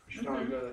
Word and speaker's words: Ashtanga: or Hatha yoga, or Astanga, how do you say it? Ashtanga, that's right.